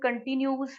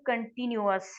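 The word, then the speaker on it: continuous: जैसे ये present कंटिन्यूस word नहीं है, ये प्रेजेंट कंटिन्यूअस है, ठीक है। आपने इसको प्रेजेंट कंटिन्यूअस पढ़ना है, ठीक है।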